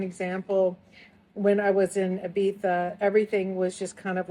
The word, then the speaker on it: Ibiza: And so it's interesting on that Ibiza discussion because when I was, by the way, Ibiza is just how it's pronounced there.